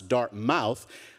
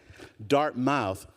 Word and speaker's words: Dartmouth: at some school that they still pronounce Dartmouth, all the years that I've been here, I could never get my family to say, you got the accent on the wrong, forget it. Dartmouth.